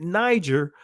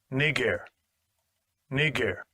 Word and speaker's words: Niger: see that word right you were taught to pronounce it Niger but here's the proper pronunciation of that word Strong's G 3526 Nar Nar strongs G 3526 Nar